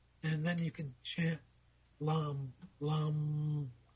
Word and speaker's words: Lam: then you can chant Lam Lam I'm never good on the exact pronunciations but it sort of rhymes with lamb l l and do